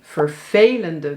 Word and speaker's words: vervelende: En dan zal je dus zien dat steeds in de onbeklemtoonde delen van deze woorden de e wordt uitgesproken als e. Gisteren hadden we een vervelende bestelling en morgen heb ik 7 vervelende bestellingen.